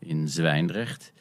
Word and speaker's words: Zwijndrecht: Indeed, I was a mayor in Zwijndrecht, which for internationals is indeed tough to pronounce. The zw and the ch is just tough.